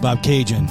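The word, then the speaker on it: Bobcaygeon: heck yeah how do you how do you pronounce the name of this title Bob Bob cinjun Bob cinjun okay I'm surpris you don't know Bob Cajun that's huge fishing it's up north of Toronto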